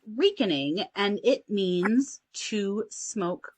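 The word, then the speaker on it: recaning: okay cool and it is pronounced like uh reek r-e-e-k weakening um and often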